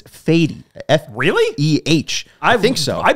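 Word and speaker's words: Fedde: Also in the rotation, Michael Soroka, Eric Fady. I think it's now. I saw the pronunciation list. It's not Fetty. It's Fady.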